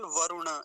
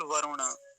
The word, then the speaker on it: वरुण: इतना आया है वरुण ना तो इसमें विसर्ग है ना वरुणा य है ना वरुण ऐसा कुछ नहीं है केवल वरुण इतना ही ध्यान रखेंगे और रे पर हरस उकार होता है छोटे उ की मात्रा होती है तो वरुण जल्दी ही बोला जाएगा वरुण ये शब्द फिर